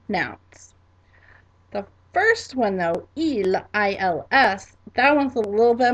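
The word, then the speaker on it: ils: Our first one is going to be il, il, and that is spelled I-L-S, I-L-S.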